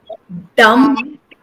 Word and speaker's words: dumb: And all the MB words, remember, the B will be silent. So, plumber, dumb, thumb. And when you say dumb, dumber, not dumber. Dumber. So B is silent.